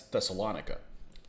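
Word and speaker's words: Thessaloniki: city in northern greece there's only one way i've ever heard it pronounced and that's thessalonika you don't pronounce it any other way and this guy comes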